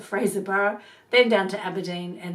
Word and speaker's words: Fraserburgh: the frozen Fraser borough which I've been told how to pronounce it now not Fraserburgh but Fraser borough then down to Aberdeen